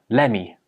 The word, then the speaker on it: lemme: The t sound at the end of let gets dropped and it just becomes lemme.